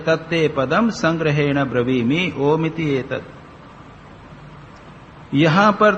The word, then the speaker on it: ओम: इसके तीन शब्द है अ का उच्चारण अ गले से होता है उ मुंह के भीतर और म ओट पर आक बंद हो जाता है तो जितना भी